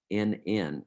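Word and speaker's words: Brünn: It was located in the town of Brunn, Brunnn, is how it was pronounced at the time.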